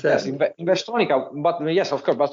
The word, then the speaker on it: Investronica: Is that the way you pronounce that? Yes, Investronica.